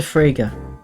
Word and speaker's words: Frege: She is a Frege, which rhymes with Sega.